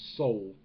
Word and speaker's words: Sol: beer reviews third salt i've heard people pronounce it soul but to me when you see sol it's salt but whatever have you saul